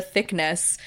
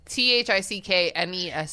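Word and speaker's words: Thicknesse: It's THICKNESS. It's really funny. It's like the word finesse. But with then there's, thick in it.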